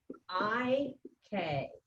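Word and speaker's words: hay que: I think one was high K or something like. I-K. All right, that H is silent.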